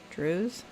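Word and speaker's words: Dreugh: No one that lived did so outside of the sufference of the Drews. Drews. So, silent G hs.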